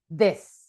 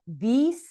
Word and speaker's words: this: And this pronoun, it's almost an e, a short e, this. It's not an e, it's not these, it's this.